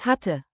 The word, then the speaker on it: hatte: Keep the double T crisp. Hatte, hat test, hat 10.